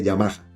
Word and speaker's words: Yamaha: no tanto el logo sino la fuente de Yamaha Yamaha que es como se debe pronunciar esa marca entonces eh felicito a los